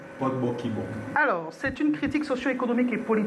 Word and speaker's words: Bokibom: Vous allez m'aider à mieux le prononcer. Bokibom.